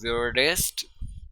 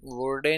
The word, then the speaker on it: würde: जैसे इश वियर्डे, डू वियर्डेस्ट, वर्डे नहीं पढ़ना, वियर्डे वियर्डे।